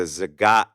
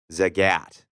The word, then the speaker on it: Zagat: talking about the what we were calling the Zagat guide, Z-A-G-A-T.